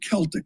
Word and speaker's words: Celtic: Aberdeen FC won the Scottish final I think they pronounce it Celtic. It's not Celtic. the Boston Celtics.